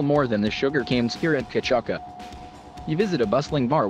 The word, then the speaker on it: cachaça: Pronounced cachaça, it is distilled from sugarcane juice.